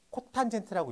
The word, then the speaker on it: 코탄젠트: 그럼 탄젠트의 역수를 COT라고 쓴 다음에 코탄젠트라고 있습니다. 그래요?